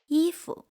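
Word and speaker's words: 衣服: yīfu Clothes. The second word loses its original tone, fu, and become neutral tone.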